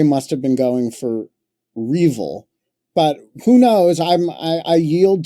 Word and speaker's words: REvil: It was R-Evil, and it's spelled R-E-V-I-L.